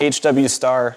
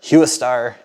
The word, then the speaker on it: HWSTAR: headlights so these are I think it's pronounced HW star cuz star is a recognizable word or hu star either way looks like